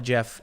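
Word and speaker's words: GIF: it's just like dude the guy who invented it said it's called a jiff and people are like yeah but it's a it's a hard g it's like well so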